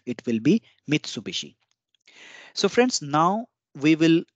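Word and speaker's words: 三菱: is not applicable here similarly Mitsubishi Mitsubishi will remain Mitsubishi it will not become Mitsubishi it will not become Mitsubishi because B is a voiced consonant but is a voiced consonant and is an unwise consonant so o in between will not get divised it will be Mitsubishi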